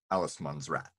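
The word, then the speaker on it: Allemansrätt: It's been a few years since I studied Swedish, but so I might butcher the pronunciation. But they have a concept called Allesmansrätt, or rat.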